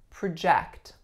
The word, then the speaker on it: project: subject of your presentation next up we have project project my second syllable here is the strongest it is at my first syllable is of course schwa prep project please don't